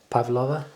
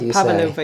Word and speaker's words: Pavlova: Pavlova. Yeah, that’s not how you normally say it. You go Pavlòva.